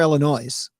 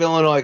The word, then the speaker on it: Illinois: it people outside of Illinois call it Illinois like I mean it ends in an s absolutely but come on